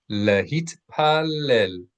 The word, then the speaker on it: להתפלל: So make sure that you pronounce the T's in Hebrew always. Lehit t, lehit pallel.